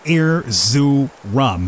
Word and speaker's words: Erzurum: little banger by the name of air zoo rum or at least i'm hoping i'm relatively close to i should be pronouncing that that being said